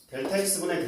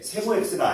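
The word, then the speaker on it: Δx: 평균 변화율의 정의는 뭐냐면 델타x분의 델타 Y로 정의를 내겠죠. 자, 읽을 때 세모 x가 아니야. 세모 x라고 읽지 마. 델타 x라고 읽어야 돼.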